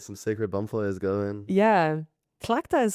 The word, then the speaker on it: Tlachtga: Clachta.